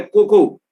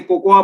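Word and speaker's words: cocoa: है, और वो है कोको, जिसको कई लोग गलती से कोकोआ बोलते हैं। कोकोआ नहीं है, हिंदी में उसका प्रोनाउंसिएशन कोको होता है, इंग्लिश में लिखा जरूर कोकोआ जाता है।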